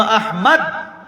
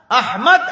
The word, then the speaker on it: আহমদ: নাম হইলো আরবি উচ্চারণ হইলো আহমদ। আহমদ আরবি উচ্চারণ। নাম রাখছে মা বাবা আহমদ, হ্যাঁ কয় আহমেদ। আহমদ রে মেদ বানাইছে, এর মেদ বুড়িয়েছে। সব গলত উচ্চারণ এগুলো।